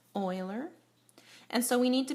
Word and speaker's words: Euler: now this book section is about Oiler circuits pronounced Oiler and so we need